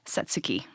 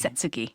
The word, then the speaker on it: Satsuki: means azalea or may how do you say it satsuki sutsuki satsuki okay i just recall them being like like suzuki like the car and i could laugh